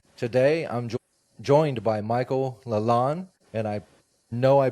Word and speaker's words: Lalonde: It's Lalonde. It's a French name.